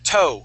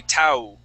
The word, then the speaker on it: toe: it's like if you were using the O sound in Spanish, like todo. O, toe. It's the same O sound. You would not pronounce an oo. You wouldn't say tau.